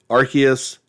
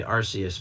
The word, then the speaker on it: Arceus: I mean, that's what I always used to say Arceus, but then I either saw the commercial on social media or off your YouTube channel, and Mm. then they pronounce it with the hard C.